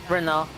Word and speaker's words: Renault: Renault. Yeah, you got it. That's You 3. with your proper French pronunciation.